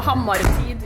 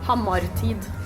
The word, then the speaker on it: Hammartid: So Hammartid is kind of Hammer Time in Norwegian. So how do you say it again? Hammartid.